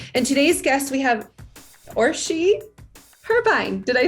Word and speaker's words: Orsi: marketing expedition community and today's guest we have or she turbine did i say that right or she yes oh good thank you that's that's always